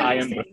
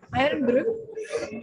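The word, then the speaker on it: Irn Bru: Iron Brew.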